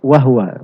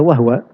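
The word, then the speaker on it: وهو: Kalau di sini timbangannya harus dibaca wahwa. Iya. Supaya menjadi mustaf'ilun.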